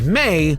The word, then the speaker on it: Mai: surrounding her character because on paper people don't necessarily understand the pronunciation of her name but if after a couple of watches i'm sure you'll pick it up as may like the month of may mainzuka are the main